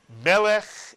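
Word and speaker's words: מלך: So how would you read this first syllable? If you said meh, you are correct. And now the second syllable, which ends in a final chaf with a shva written inside it. If you said lech, you are correct. Try putting the word together. Melech is correct.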